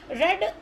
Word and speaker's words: read: रेड spelling dear READ होती है, रीड आपका प्रेजेंट टेंस है, पास्ट टेंस में भी स्पेलिंग आपकी READ होती है, लेकिन उसको पढ़ते रेड है, प्रोनाउंसिएशन उसका रेड है।